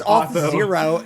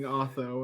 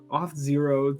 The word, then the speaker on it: Auth0: You got me saying auth-o, and I just knew it as auth-o. I was like, that kind of sounds good. Auth0, too many syllables.